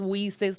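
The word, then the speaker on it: WiCyS: is Reese's right now it's whis's women and cyber security and is pronounced Weis like we sisters okay I see I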